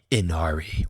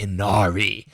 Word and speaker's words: Ynnari: The current terror of the meta is describable only in one unpronouncable word, the Inari. Well, I guess I guess I can pronounce it, but it's spelled stupidly.